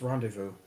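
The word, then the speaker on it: rendezvous: Then I want you to that that word spelled pronounced weirdly for the spelling. It's rendevous.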